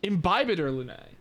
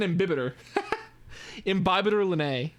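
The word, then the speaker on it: Imbibitor Lunae: to win him in imbibator lunae that's how it's pronounced that makes a bit more sense than inhibitor in Bible gotcha now I know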